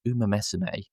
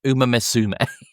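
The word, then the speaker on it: Uma Musume: And and it's it's Uma Mesameé. Uma, the developer is a Japanese developer, not Uma Misum.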